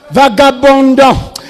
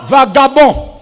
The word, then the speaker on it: vagabond: On dit comment? Vagabond. C'est ça? Il n'y a pas dans la fin.